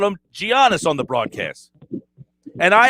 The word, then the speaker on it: Giannis: that the guy's name is giannis we know that it's not even to me debatable because someone you hear on tnt say it that doesn't make it right and to allow your voice to pronounce it giannios to me it's just wrong for you i wouldn't let my